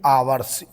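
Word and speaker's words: hours: घंटे की होती है आवर्स एच ओ यू आर एस इसमें एच साइलेंट रहता है इसलिए आवर्स बोला करते हैं ठीक है अब क्या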